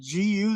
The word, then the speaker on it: Gu: now is it is is it is it gu that you were telling me uh that needs to be pronounced that way well yes a G is